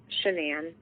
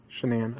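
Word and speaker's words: Shanann: Say it again. Shenan. Shenan. Okay. Sorry. Yeah, that's okay. Everybody says it wrong.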